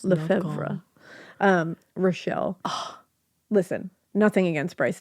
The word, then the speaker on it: Lefevre: About Victoria, played by, Rochelle Lefevre, I believe it's pronounced. I had my French guy on pronounce names. Tell me, names? Lefevre.